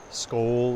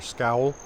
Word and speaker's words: Skál: what is the word you will typically uh hear people enthusiastic about Scandinavian things in the USA say skull um often spelling it SK a l uh which is sort